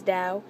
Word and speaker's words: Tao: said da I said pronouncing it correctly as da it's spell Tao your name is the